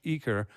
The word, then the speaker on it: Eaker: Can you get the pronunciation? Eaker? I say Eaker.